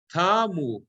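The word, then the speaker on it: תַּמּוּ: Ve'hamerachem kilo tamu chasadecha. Tamu, here it's very clear, it's got to be on the mil'el, the accent is on the taf.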